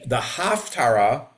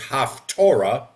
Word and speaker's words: Haftarah: The Haftarah, frequently incorrectly pronounced as Haftorah.